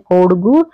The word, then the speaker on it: कोडगु: तो इसको हम कहते हैं कोडगु या फिर कोडागु भी कहते हैं, क्योंकि कई बार क्या होता है कि जो बोलने का जो हमारा प्रोनाउंसिएशन होता है वो थोड़ा सा सबका अलग अलग हो जाता है जो राज्य के हिसाब से।